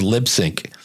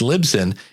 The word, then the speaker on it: Libsyn: purpose I'm leaning towards lip sync um it's actually Lisbon actually I said it wrong again that's the funny part about it these are the two you hear Lisbon and Lip Sync It's libsyn in fact on their